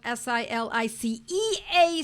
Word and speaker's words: silicea: Silica, S-I-L-I-C-A, or sometimes it's spelled S-I-L-I-C-E-A, silicea, because it's English or it's Latin, and we interchange them. It works in both ways.